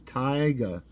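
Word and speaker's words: taiga: and I'm wrong again it is tigga however you pronounce that t a i g a this one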